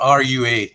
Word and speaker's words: RUA: So the word RUA, R-U-A, is pronounced RUA, but is also a Scottish Gaelic word spelt R-U-A-D-H, but phonetically sounds the same.